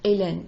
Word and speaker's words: Hélène: So you have words like Hélène. In fact, the French language as it evolved was more Hélène, beginning with E. And then they put in the H, and the H is silent. So Hélène.